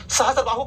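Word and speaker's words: सहस्रबाहु: मंदिर, लेकिन बेसिकली वो सहस्त्रबाहु का मंदिर है। सहस्त्रबाहु का मंदिर है। आम लोग इसको धीरे धीरे धीरे अपभ्रंश में उच्चारण करते करते करते सास बहू कहते हैं, तो लोग समझते हैं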